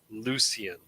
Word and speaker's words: Lucian: Technically, the proper way to say it is Lucien, but it's Lucien. Lucien.